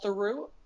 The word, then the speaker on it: Theroux: his father is Paul turu and you pronounced it through like true yeah he left her